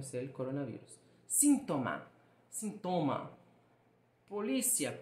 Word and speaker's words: polícia: No português, a sílaba tônica é o li, polícia. Já no espanhol, existe a mesma palavra, mas ela é pronunciada como policía.